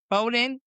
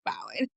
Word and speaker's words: Bowen: Bowden? Bowden. Bowen. I said it wrong the first time. I said it right, but this time I Yep. got it wrong. But Bowen.